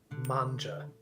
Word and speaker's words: manga: There is no G sound in Japan. Okay. It's pronounced manga.